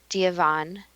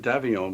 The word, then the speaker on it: Davion: Well, it's Bridget Davion, which means Bridget Bridge, I guess.